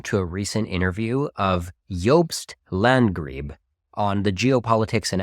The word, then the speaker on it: Jobst: today I'm reacting to a recent interview of yobst landree on the geopolitics and Empire podcast yobst and by the way that's spelled j o b St is a German